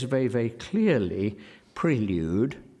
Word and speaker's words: Prelude: says very very clearly prelude not Prelude Prelude despite the fact that in Great Britain as the dictionary says Prelude prevails prevails or prevails perhaps we could hear preludes one I'm I can't bring myself to say Prelude but I know it's what he said please now I thought